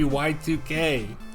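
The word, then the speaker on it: YIIK: Speaking of indie darlings, chat room, did you know Yeek's not pronounced Yeek? Because I didn't. It sure isn't. It's supposed to be Y2K. Why'd they write it like that?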